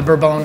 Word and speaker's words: bourbon: So bourbon is named after the Bourbon family, but of course we call it bourbon.